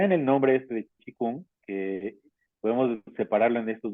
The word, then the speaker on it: Qigong: Pues es lo mismo, pero la pronunciación correcta sería Qigong, ¿no? Esa es la pronunciación en chino como Qigong. A veces como que se traduce al inglés como Qigong, ¿no?